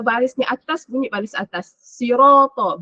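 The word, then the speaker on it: صِرَاطَ: Sirata, bukan siratu.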